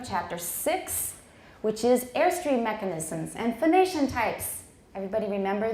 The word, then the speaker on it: mechanism: times last semester so make sure you do not say meh canism okay nobody say mechanism or I'm gonna it's great all right so no mechanism it's mechanism mechanism mechanism and it's not stressed